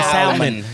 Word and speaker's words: salmon: know you do because you don't throw that l in there that unnecessary she didn't say salmon yeah I was like